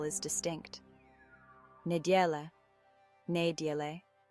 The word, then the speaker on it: neděle: Neděle, neděle, ne as in net, die like the color, and le like the start of lemon. The E at the end is pronounced softly.